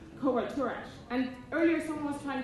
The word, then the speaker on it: covoiturage: So if you were to try to pronounce that in Spanish, you would get a little covoiturage. And if you try to say it in English, it goes something along the lines of covoiturage.